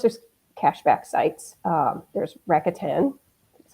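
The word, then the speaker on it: Rakuten: then of course there's cashback sites um there's racka 10 that's how you say it that used to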